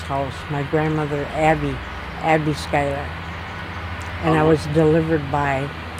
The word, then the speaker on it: Schuyler: and my maiden name was skyler you want to spell that for us please says